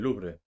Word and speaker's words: Louvre: Un grupo de ladrones realizó un robo espectacular en el Museo del Louvre, así es como lo pronunciamos nosotros en España.